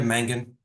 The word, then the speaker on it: Mangan: Yeah, Mangan.